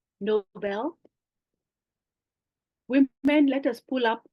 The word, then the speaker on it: Nobel: The word Nobel Prize is not as in being noble. It is actually after a name of a person, Alfred Nobel. I think it's pronounced Nobel.